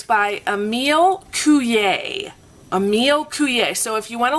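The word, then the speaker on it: Coué: Emile Coulier. So if you want to look it up, it's Emile. Coulier is spelled Coue.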